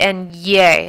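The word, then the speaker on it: ñ: don't have in English note the little thing on top of the N it's called a tilde so it doesn't sound like n a it sounds like and yay it's got the yo-yo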